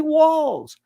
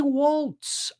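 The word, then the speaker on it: Walz: same thing with Timmy walls whose name people can't pronounce they say Walts I don't know why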